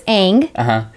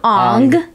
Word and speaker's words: Aang: Because in the show it's Aang, and they called him Ong, and it was Sokka, and it wasn't like Soka.